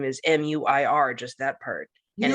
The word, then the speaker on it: Muir: There's an American broadcaster he works for, or a reporter he works for ABC News, whose last name is MUIR, just that part. And it's Muir.